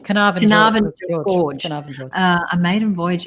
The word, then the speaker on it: Carnarvon Gorge: Carnarvon George? Carnarvon Gorge.